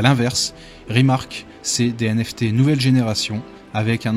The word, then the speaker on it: RMRK: ait rmr cas donc ça se prononce rimark rimark qu'est ce que c'est